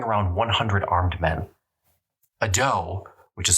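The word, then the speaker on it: dhow: toward them carrying around 100 armed men a doe which is spelled d-h-o-w by the way is simply a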